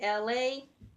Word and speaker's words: Elay: Once again, it's me, LA, pronounced like LA, like the city.